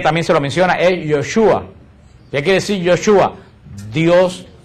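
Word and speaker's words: Yeshua: El nombre de Jesús, que nosotros decimos Jesús, en hebreo no se pronuncia Jesús, en hebreo se pronuncia Yoshua.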